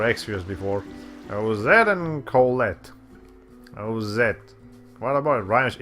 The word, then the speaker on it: Ozette: Ozette. What about it? It rhymes with Colette.